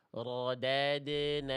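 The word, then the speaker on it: رَدَدْنَاهُ: Rodadnahu rodad rodadnahu. Tidak boleh dibaca begitu. Karena dal ketika sukun punya qalqalah. Maka ini bacaan yang lebih tepat. rodadnaahu.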